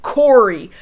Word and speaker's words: Kaori: Nobody pronounces Kaori's name the same. Like, even if they were just going to pick Corey, just pick Corey and have everybody say Corey. But not everybody says Corey, and even Joe doesn't say Kaori consistently.